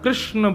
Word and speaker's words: कृष्णा: कहा करते हैं कि भगवान भगवान का नाम उच्चारण करना है तो कृष्ण बोलो कृष्ण और यदि द्रोपदी का उच्चारण करना है तो कृष्णा बोलो अकार आ की मात्रा लगाओ संपूर्ण महाभारत के पात्रों